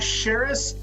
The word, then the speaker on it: Charis: Charis, like Paris.